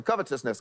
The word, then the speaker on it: covetousness: this message this week four syllables of a word we don't say very often covetousness covetousness you say it